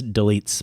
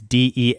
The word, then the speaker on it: Delitzsch: If I have no clue how to pronounce Delitz, by the way, it's Delitzsch. Lots of consonants there at the end.